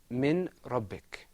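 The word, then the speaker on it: من ربك: The next example is pronounced min rabbik without idgham.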